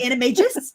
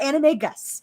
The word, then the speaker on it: Animagus: becoming an anime just first of all it's animagists not anime gus okay stop [ __